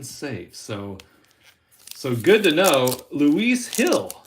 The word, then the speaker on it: Luis Gil: So Luis Hill is how it's pronounced, not Luis Gill.